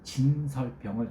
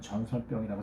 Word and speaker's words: 진설병: 여러분, 제가 발음이 좀 안 좋아서 아까 그 진설병을 전설병이라고 잘못 발음이 됐어요.